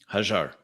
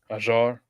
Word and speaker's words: Hajar: Hajar is what my people call me. Ajar? Yes, Hajar. Well, you're not saying it right, but that's close enough.